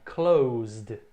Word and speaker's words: closed: Então, o passado, eu fechei, I closed. I closed. Não é closed, O E, tem o E ali, mas não pronuncia.